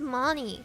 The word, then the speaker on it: Moni: Yeah, guys, my name is Moni. Moni. Not Manai.